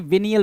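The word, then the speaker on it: venial: बोलेंगे क्या, मामूली गलती, विनियल बोलते हैं, क्या, विनियल। कुछ लोग विनियल बोलते हैं, कुछ लोग विनायल बोलते हैं, तो ये आप पे डिपेंड करता है।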